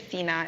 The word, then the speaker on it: Cina: So, my name is Cena. It's spelled C I N A.